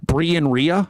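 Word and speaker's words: Brien Rea: Well, the the the X and Instagram, Brian Ray, and it's spelled awkwardly, so that makes it difficult to find it. B R I E N R E. Brien Ria. R E A.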